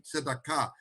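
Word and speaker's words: צדקה: Let me pronounce it properly in Hebrew, tzedakah, and in Arabic, sadaqah, the same word.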